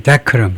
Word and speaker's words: decorum: 그래서 디코름 자체는 이제 좋은 말이지만은 그 이용하는 사람들이 이제 그래서 발음이 어떻게 되냐면 decorum 앞에 액센트가 있네요.